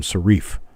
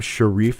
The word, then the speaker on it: Sharif: YouTube coin community and start hearing people call him Sharif Omar Sharif Omar shif actually wasn't his name shareif s h a r i f shareif here's Mickey Mickey Mickey